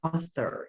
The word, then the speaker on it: author: be explicit and systematic the word is author in english say the word to me author the spanish word is outdoor how many syllables in that word put your hand under your chin your mouth open two times that's two syllables how about english author it's also two how many sounds in spanish ah four how about in english ah er only three how many meaning units